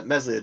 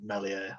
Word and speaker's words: Meslier: Yeah, I've seen how Meslier does, or Melier, as I think it's that's the way Bryn Law pronounced it. I think it's French, so it's pronounced Melier or something like that.